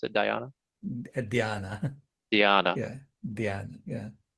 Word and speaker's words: dhyana: Is that how you pronounce it? Dhyana?